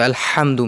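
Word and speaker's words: الحمد: So Alhamdu, make the ha clear, not ha.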